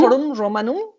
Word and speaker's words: Forum Romanum: Forum Romanum, in Rome.